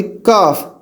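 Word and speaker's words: قاف: और प्रोनाउंसिएशन कैसे होगी, काफ, के डबल ए एफ, या क्यू ए एफ, काफ।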